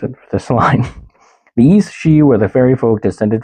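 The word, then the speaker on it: aos sí: The East She. I remembered how to pronounce it because I didn't put how to pronounce it for this line. The East She were the fairy folk descended from the Tuatha De Danann.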